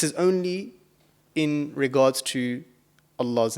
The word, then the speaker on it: Allah: to thicken it and the only time that you actually do thicken this letter is when this appears in the word of Allah yeah so in certain